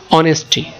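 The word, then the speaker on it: honesty: তো সততা শব্দটা উচ্চারণ করতে অনেস্টি, তার মানে অ আসে শুরুতে, কি বাংলাতে অ আসে। তো অটা, এটা এসটা কি অনুচ্চারিত, যেটাকে উচ্চারণ করা যায় না, এই জন্য এইচ এর পরে যে অ্যালফাবেটটা আছে ও, এটার উচ্চারণটাই কি মূলত অ এর মতো।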